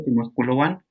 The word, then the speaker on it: Timohkuloan: Timohkuloan, se pronuncia, se escribe Timohkuloan.